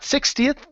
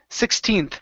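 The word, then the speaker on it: sixteenth: this is 16th not 60th 16th on December 16th on December 16th okay make sure to pronounce that n Sound 16th 16th 60 almost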